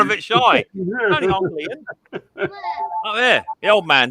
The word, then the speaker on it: Ian: Yeah, Ian. It's the correct pronunciation. Ian. Ian, not Ian or Ion.